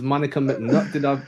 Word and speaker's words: Monica McNutt: I'm joined by ESPN's Monica McNutt. Did I pronounce that correctly?